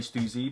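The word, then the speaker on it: Stüssy: number four black t-shirt yes I say Suzy because what that's the correct way to say it's crazy simple design at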